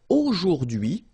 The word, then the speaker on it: aujourd'hui: Okay, so don't be afraid by this word because it looks a bit scary if you look at it like that, but take the time to, well, divide it. So the first one, A-U-O, jour, and then DUI, okay? H is not pronounced, so you only get this DUI thing. O, jour, DUI, aujourd'hui, and it means today, okay?